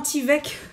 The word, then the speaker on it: Tyvek: Donc, des grandes enveloppes comme ça, et ça s'écrit donc. Ah ben, non, Tyvek, même moi je le dis mal.